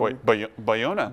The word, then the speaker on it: Bayona: Bayona, is that how Bayona. Bayona, sorry, we think that's how you pronounce it, will direct Jurassic World 2.